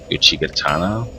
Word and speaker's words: Uchigatana: This I think that maybe I'll use the, let's see, either the scythe or the Uchigatana.